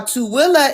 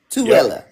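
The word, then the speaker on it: Tooele: So So y'all, Tilla is spelled T O O E L E. Tilla.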